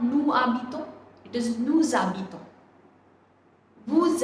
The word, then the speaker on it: habitons: Nous habitons. Now why I am saying habitons? Because H is a vowel.